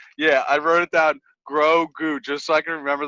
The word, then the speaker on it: Grogu: doing the thing yeah i wrote it down grow goo just so i can remember the pronunciation and the things that grow okay grow